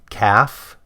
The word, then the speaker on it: calf: Half calf. There's no L sound in those words, but take a look at self and shelf, and you absolutely do hear an L sound.